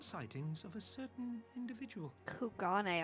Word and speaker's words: Kugane: soldiers were dispatched to kugani to investigate recent sightings of a certain individual kugane I've been saying it wrong this whole time kugane the late acting Imperial